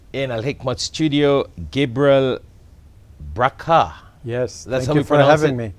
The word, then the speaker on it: Brakha: have with us in a liquid studio gabriel bracha yes that's for having me yeah that's how we pronounce it yes good so Gabriel bracha is